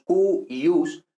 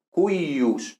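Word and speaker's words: cuius: Entonces, por ejemplo, en cuyus, porque esto realmente, nosotros normalmente lo pronunciamos cuyus, pero esto realmente era más bien algo como cuyus, ¿no?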